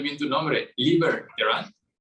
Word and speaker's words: Liber Terán: Estoy pronunciando bien tu nombre, Liber Terán. Liber como libertad, Terán como se escucha.